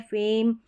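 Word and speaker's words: fame: थोड़ा खेंच कर पढ़ेंगे यह है फेम और ये है टेम यहां पर ए का उच्चारण तो लंबा है लेकिन लास्ट में ई जो है ना इसका उच्चारण नहीं हो रहा है ये साइलेंट है सभी में आपको ध्यान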